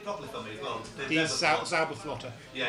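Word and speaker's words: Zauberflöte: Yeah, could you pronounce it properly for me as well? Zauberflotter.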